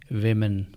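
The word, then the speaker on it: women: और इसका तलफुज़ होगा वुमेन। वुमेन। यहां डब्ल्यू के बाद जो ओ है वह आई की आवाज दे रहा है।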